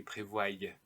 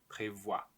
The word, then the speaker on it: prévoit: Il, elle, on prévoit. And here, nous prévoyons. So the I is replaced by a Y. Vous prévoyez. Il, elle prévoit. Make sure you don't say prévoie. Prévoit.